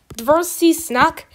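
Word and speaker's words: твёрдый знак: In Russian, this is pronounced dvorsi snak.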